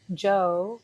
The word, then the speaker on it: Djo: super into has been Joe. It's spelled DJO.